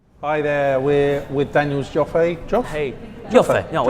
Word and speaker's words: Joffe: Hi there, we're with Daniel's Joffe. Joffe? Hey, Joffe. Joffe. No, it's Joffe. We have this letter in our country which is pronounced Yo. Joffe.